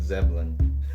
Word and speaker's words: Zebulon: think from me coming from Zebulon. from North Carolina, we call it Zebulon. Yeah, you guys leave out letters that are actually there. Yeah, we don't pronunciate the vowels as good as you should.